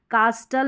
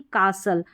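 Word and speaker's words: castle: कास्टल नहीं कासल।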